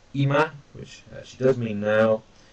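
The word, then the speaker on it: 今: And then here, this means now, this, or present, pronounced ima, which actually does mean now, kyo, which is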